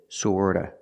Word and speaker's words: sort of: of and sort of remember the T in sort of is pronounced with a fast D that is sorta sort of sort of